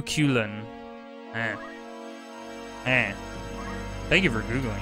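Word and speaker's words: Cúchulainn: at this guy and his name is apparently pronounced ku ku ku kelan ku ku ku coolin and thank you for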